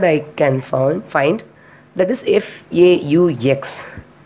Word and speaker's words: faux: Only one word I can find, that is FAUX. By spelling FAUX, but we have to pronounce as fa. It is a French word, I think.